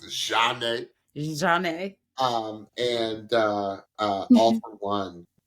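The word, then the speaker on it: Zhané: In the really popular group named Zhane, pronounced Zhane.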